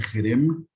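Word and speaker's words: חרם: En hebreo es la 2764, se pronuncia Jerem y significa objeto maldito, destinado a destrucción.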